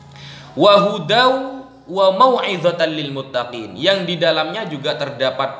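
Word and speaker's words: المتقين: hudaw wa mau'izatan lil muttaqin. Muttaqin, bukan muttaqin. Bacanya muttaqin barusan. Mutta, ta sama to itu beda.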